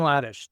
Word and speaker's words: Hladysh: your name it's Ladish the H is silent so it's h l